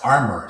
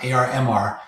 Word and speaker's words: ARMR: out and and tell you that it's armor. So it's not ARMR. Um so, excuse me for for interrupting you right at the start of this, but uh armor is probably how you pronounce it.